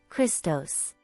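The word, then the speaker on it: Χριστός: the Greek word for Christ Ciro Iota sigmat pronounced Christos four come Christmas people around the world enjoy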